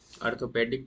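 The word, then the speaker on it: Arthropoda: Orthopaedic department आप सुने हैं ना जो जॉइंट के डॉक्टर होते हैं तो ओ आर होता है। यहां ए आर है। इसको भी याद रखिएगा। ऑर्थोपोडा लेकिन दोनों का प्रोनाउंसिएशन एज सेम है।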